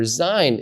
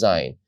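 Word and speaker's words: ז: And the letter Zayin is pronounced Z, like the English Z.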